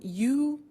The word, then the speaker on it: used: Now, this verb, used to, well, it's written U-S-E-D, but the pronunciation is used, and we'll see that on the screen later.